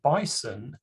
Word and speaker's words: bison: Hence, the correct way to pronounce the word bison is with a s sound in the middle.